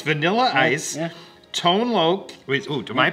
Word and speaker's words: Tone Loc: Yeah, it's Vanilla Ice, Tone Loc. Am I pronouncing that right? Yeah, no, you're right. Yeah, Tone Loc.